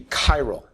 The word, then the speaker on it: chiral: are said to be chyal uh it's a CH but it's pronounced like a hard c chyro chyro means handedness